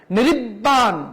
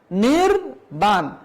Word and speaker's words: নির্বাণ: যেমন নির্জন, নির্জন, এই যে এরকম বলা যাবে না, নিরিব্বান বলা যাবে না, দ্বিত্ব উচ্চারণ করা যাবে না, নিরিজ্ঝর বলা যাবে না। তাহলে কি বলতে হবে? নির্জন, নির্বাণ, নির্ঝর।